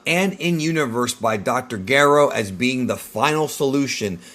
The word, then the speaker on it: Gero: You can find out more about Gero's backstory, including the fact that Gero is the right way to pronounce it, not Gero, in the Androids Explained video, which you should have already watched, and hopefully you did.